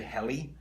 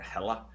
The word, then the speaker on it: Helle: I say Helle, and I think it's pronounced Helle or Hella in Norwegian.